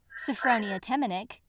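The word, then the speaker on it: Sophronia Temminnick: She made friends with, in this audiobook pronounced correctly, Shiak Macan, Sophronia Temenick, and Dimity Plumley Tainmont, Pillover's older sister.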